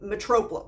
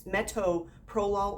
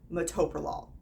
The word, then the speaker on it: metoprolol: to the T there's no r next to the T there's no Metropol no it's metoprolol or metoprolol those are the only choices you get you can put a different emphasis on a different syllable that's all you get you can't turn letters around at any rate metoprolol